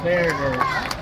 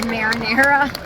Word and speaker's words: Mariners: Okay, so my husband said I said it wrong. What is it? Seattle Mariners. He said I said marinara.